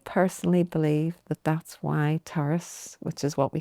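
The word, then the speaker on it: Turas: And um so I personally believe that that's why Taurus, which is what we called ourselves, which means journey. How do you say it properly? Because I think I said it. Terrace.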